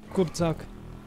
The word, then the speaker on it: Kurczak: Not CZ, but shh.